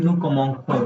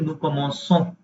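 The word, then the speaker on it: commençons: We don't want to read nukomonko, we want to read nukomonson, कमोसो, हाँ right.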